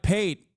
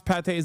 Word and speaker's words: pate: Pate not pronounce patees the ball spot on the top of your noggin.